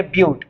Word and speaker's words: but: 4 carbon को हम बोलेंगे ब्यूट। इट इज नॉट अ बट, वो होता है BUTT, बट होता है। दिस इज ब्यूट, ब्यूट, इसको ब्यूट पढ़ना है, ठीक है।